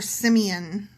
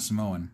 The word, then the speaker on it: Simeon: Not Samoan.